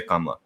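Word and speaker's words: Kamala: uh posting something about kamla uh by the way that is how you say her name uh that's the appropriate kamla right uh if you were in india you would say kamla anyway long story there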